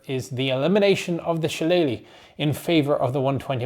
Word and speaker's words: shillelagh: upgrade as an aside there is no particular consensus in irand as that how pronounced shalele the most common is shalele what I say but Shala is also a thing particular particularly in the Southeast but if pluralized Alam